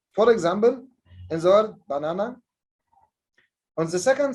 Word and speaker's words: banana: So we make a kind of stress on the second syllable in the word banana. So the first ba is unstressed, na is stressed, na, the third syllable is unstressed. But the word o, orange, the first syllable is stressed.